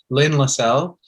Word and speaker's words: Lynn Lessell: today to have a guest with us uh lynne lassell uh lin i hope i pronounced your name right actually i should have